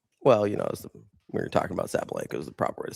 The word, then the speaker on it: Sabalenka: Well, we were talking about Sabalenka is the proper way to say it.